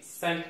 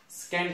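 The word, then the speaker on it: scent: सी केते बेले साइलेंट हो देखंगा अपन तो एस सी ई एन टी सेंट पढिबा को स्कैंट नै सेंट पढिबा।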